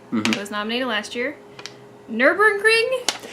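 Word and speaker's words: Nürburgring: The nominees are Elite, Minecraft, again, it was nominated last year, Nurburgring? Am I pronouncing that correctly? You are.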